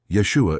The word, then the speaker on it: Yeshua: They knew that that older brother Yeshua in the original pronunciation or Jesus in the Greek transliteration was treated a little differently by the parents.